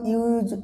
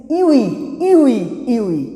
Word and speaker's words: ewe: And someone will say that, sir, if you use a, but I am not getting the point. My dear students, please remember that EWE means if you go to the phonetics, that means it is pronounced as U.